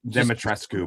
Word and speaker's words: Dimitrescu: Dimitrescu, by the way, is how it's pronounced.